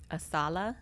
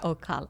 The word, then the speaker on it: Ocala: Asala. Asala, yeah. Asala or Ocala? Ocala.